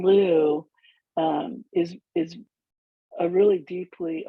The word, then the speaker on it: Lugh: i prefer the pronunciation lou and that is what people in ireland today pronounce it um i've also heard